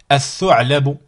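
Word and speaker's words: الثعلب: Ici, at-thu'labu. Ici, ad-darsu. Je dis pas al-darsu. Je prononce pas le lam.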